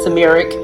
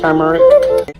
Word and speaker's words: turmeric: I think I said turmeric the last time, but it's pronounced turmeric.